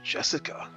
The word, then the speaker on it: Jessica: your own game this headstrong girl's name is tree Ricefield man and Christmas tree she was born under the same unlucky Star as me sharing the same kind of weird name anyway that is pronounced as Jessica she's dad's older brother's